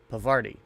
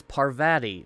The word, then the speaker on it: Parvati: a friend ever since pavardi oh I am totally saying her name wrong it's Parvati not pavardi but I guess we